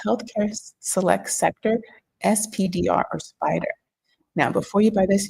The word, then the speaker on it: SPDR: See the acronym S P the finance world is it pronounced spider it stands for standard and pores but you